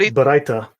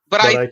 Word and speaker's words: Baraita: Please pronounce the word. Right. So you've got Baraita. Baraita.